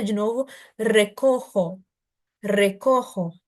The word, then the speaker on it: recojo: Não, olha atenção aqui o J de novo, recojo, recojo. E esse R do início é re. Então, é um verbo como, por exemplo, de caro, é o ro, não? Só que ele é mais prolongadinho, então, re.